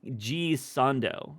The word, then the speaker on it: Gisondo: It's G Sondo, I believe is how you say it.